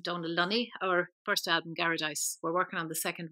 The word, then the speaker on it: Garadice: How do you pronounce that? Garadice.